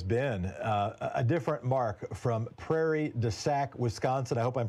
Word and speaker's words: Prairie du Sac: opening hypothesis has been a different mark from Prairie du sac Wisconsin I hope I'm pronouncing that correctly go ahead mark you are